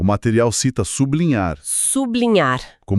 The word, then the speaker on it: sublinhar: O material cita sublinhar. Sublinhar. Como L é pronunciado de forma clara, isolada do B, a divisão acontece ali. Sublinhar. A separação reflete a pronúncia real.